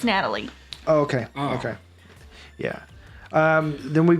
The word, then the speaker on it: Natalie: say all these names it's Natalie yeah is it Natalie yes I'm sorry spelled like that but it's Natalie okay okay yeah then